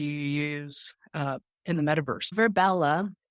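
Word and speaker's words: Virbella: Verbella. It's spelled V as in Victor, I, R as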